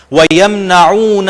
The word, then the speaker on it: يَمْنَعُونَ: یہاں پر دونوں عین, یمنعون کی بھی اور ماعون, ان دونوں کو آپ انڈر لائن کر لیں کہ تلفظ میں آپ نے ان میں محنت کرنی ہے. وَيَمْنَعُونَ الْمَاعُونَ, اور عام ضرورت